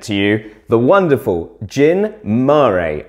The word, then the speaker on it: Gin Mare: the wonderful gin murray i am fairly certain that it is marie how it's pronounced it's not jinmer it's not jyn ma i don't think but if anyone wants to get in touch and correct me feel free to do so